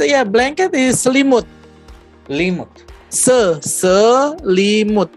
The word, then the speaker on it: Selimut: Selimut. Three syllables.